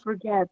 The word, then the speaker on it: forget: because it's a bit in British English you do not pronounce r so we say forget yeah forget oh God we do not pronounce her and that o after f is a short sound okay so forget it